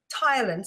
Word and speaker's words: ptyalin: secretes an enzyme called tyin spelled with a p just to confuse us PT y l i n it's also known as